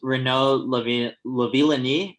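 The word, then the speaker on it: Renaud Lavillenie: Can you pronounce those ones for me, Chris? You nailed them earlier. So it's Renault Lavilani and Katie Najette.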